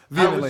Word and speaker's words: vehemently: I was stressing the second syllable.